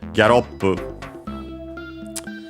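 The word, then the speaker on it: ギャロップ: In Japanese it's called Gyaroppu. Simply gallop in English, from English. Notice as usual the gya for the k and g sounds to replicate the e vowel.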